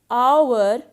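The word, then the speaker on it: hour: and honest man and our now notice the word our and honest so in both these words h is silent so our and honest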